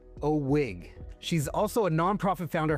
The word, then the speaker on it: OWIG: That's pronounced Oig.